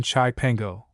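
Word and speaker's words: Cipango: surely come to the islands of Sepango, pronounced in Italian chaipango, or Japan, lying off the mainland of Cath or China.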